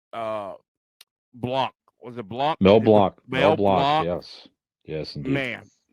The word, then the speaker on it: Mel Blanc: Mel Blanc.